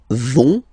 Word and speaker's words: vont: So ils vont, final T not pronounced, ils vont, and then feminine form, elles vont.